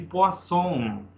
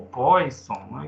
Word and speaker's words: Poisson: vamos conversar sobre o coeficiente de poon ou poisson depende aí de como você quer pronunciar pessoal imagina que a